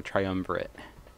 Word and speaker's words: triumvirate: click the crown of the triumvirate or triumvirate yes that's how you say it see what happens no